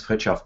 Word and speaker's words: Fritjof: My name is Fritjof. If you want to pronounce my first name, you turn the fridge off and say it quickly.